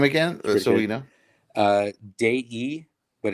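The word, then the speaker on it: Dei: so you know uh day e but it's spelled d-e-i but it's in italian it's pronounced day e and then della d-e-l-l-a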